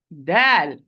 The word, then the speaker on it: د: Mixing its sound with a hint of ta. Now, my dear sister, kindly, how to avoid this mistake? If you remember, dal and ta, they are produced from the same articulation point, as we already explained.